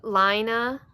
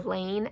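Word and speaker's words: Laine: But, so Fiber Tales, she designed a shawl pattern that's in the Lina, I think is how she pronounces it, or Lane, L-A-I-N-E.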